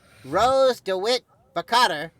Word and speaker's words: Rose DeWitt Bukater: Which film features the character Rose DeWitt Bukater?